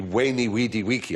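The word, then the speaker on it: veni, vidi, vici: i was taught latin we were taught to pronounce the v as a w so it would be wayney weedy wiki i came i saw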